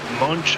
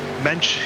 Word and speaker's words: Mench: track here this one has Jimmy munch I believe that's how you say his name mench excuse me uh it not heard